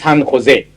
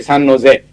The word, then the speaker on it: San Jose: The code for San Jose, San Jose is, by the way, it's a Spanish name, San Jose. It should be pronounced San Jose. Most Americans say San Jose.